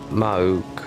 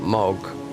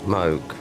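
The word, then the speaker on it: Mohg: Mog sounds like you're not pronouncing the H mog.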